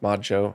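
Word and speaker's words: ModXO: Mod XO, pronounced Mod Show.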